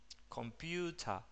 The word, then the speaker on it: computer: de la schwa reemplaza el sonido de la E y la R al final. Computer, computer.